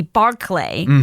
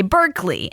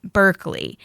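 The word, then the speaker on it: Barclay: L E Y, and they spell it B A R C L A Y, and they still pronounce it Berkeley.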